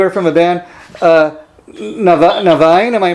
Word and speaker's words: Niviane: and norman you are from a band uh novine am i pronouncing that right absolutely okay and um you're